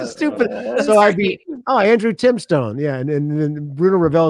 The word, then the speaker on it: Timestone: Tell me about Timestone Records. So Well, Tim is actually pronounced Timstone.